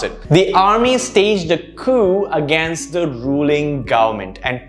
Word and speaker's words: coup: it's pronounced usually as coup this is incorrect the p is silent this comes from a greek western or rather latin origin and therefore the p is silent here it's supposed to be coup that's how you pronounce